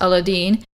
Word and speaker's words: Aladdin: And as a result of that, you actually have some of these stories like Aladdin, which is actually pronounced Aladdin.